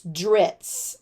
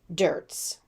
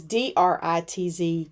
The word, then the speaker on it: Dritz: Oh, and this is drits, not dirts. My bad. I've probably mispronounced that my entire life, but it is DRITZ, drits.